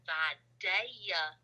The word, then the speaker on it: Vidalia: so we started in vidalia vadaya georgia as it's pronounced to the locals which is like the